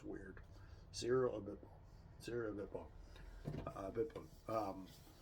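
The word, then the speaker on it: Abiteboul: Sarah Abitbol. Abitbol. A bit bull.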